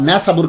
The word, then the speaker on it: नीशापुर: इसे नैसाबुर भी कहते हैं, नैसाबुर भी कहते हैं, नैशापुर भी कहते हैं। तो आमतौर पर नीशापुर बोला जाता है आप जुबान के अंदर।